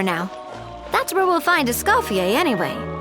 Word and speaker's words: Escoffier: That's where we'll find Escafier anyway. Essafier. Yeah, the R is silent. I keep forgetting that this is all French.